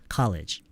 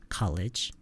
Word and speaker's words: college: courage가 아니라 여기서 R 발음이 나면 안 돼요. 그럼 못 알아들어요. Ever since courage, no, college. courage 용기처럼 들리면 안 되죠. college.